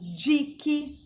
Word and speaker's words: dique: QU não é pronunciado. Nós temos dique, tá?